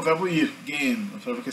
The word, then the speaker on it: gehen: Gehen. Você vai ver que esse H no centro não é pronunciado, tá? O H no final do morfema, que o radical do verbo gehen é ge, né?